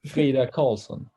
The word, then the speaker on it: Frida Karlsson: Well, I said it a little bit more Swedish, but if you were to say it here in America, that would be great.